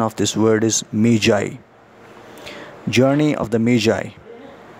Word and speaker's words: Magi: seeing this word m-a-g-i normally we pronounce it as maggie but its pronunciation is not maggie dear students the actual the right correct pronunciation of this word is meijai journey of the media meiji this word actually it